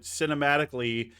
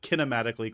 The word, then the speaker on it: cinematically: Yeah, but God, it's like we've got 3 C words, but cinematically has to be a soft C. It's not kinematically clueless, crow, but maybe we could say it kinematically.